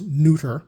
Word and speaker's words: Nutter: of the episode, Maeve Nutter, I'm told that's pronounced neuter, as a suspicious ex-boyfriend, and Don Gordon as a debt-ridden racetrack promoter.